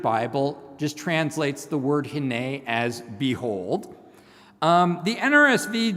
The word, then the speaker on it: hinneh: It's pronounced hinneh.